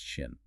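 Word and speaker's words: 心: It's the character for mind or heart, pronounced shin.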